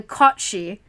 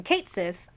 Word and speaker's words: Cat Sith: Okay, it's on this book because the cat Sith, this is the Kotshi. Kotshi. Apparently, that's how you pronounce that.